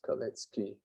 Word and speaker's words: Kalecki: It's usually pronounced as Kalecki.